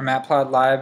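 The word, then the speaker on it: matplotlib: I used to use matplot lib or matplot live as people pronounce it but uh I kind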